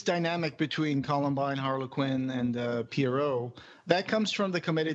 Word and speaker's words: Pierrot: Pierrot, not Parrot. I thought it was Parrot, so it's Pierrot. Yeah, yeah. Okay. It's kind of like a French sounding name.